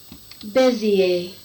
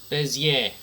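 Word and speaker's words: Bézier: Bezier. Oh, it's a French word, okay. Bezier.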